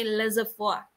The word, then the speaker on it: laissez-faire: Ang tamang basa sa kanya class, pakatandaan natin ay laissez-faire. Ayan, medyo ulitin natin, no? Laissez-faire. Ayan, ang tamang bigkas sa salitang ito.